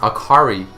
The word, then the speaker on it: Akali: other games and animes akali is pronounced akari in japanese meaning light bright cheerful which is actually a